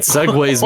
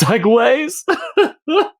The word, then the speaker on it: segue: what am I saying segues me into I said he's like as if like how it's spelled but like it's Segways oh my brain geez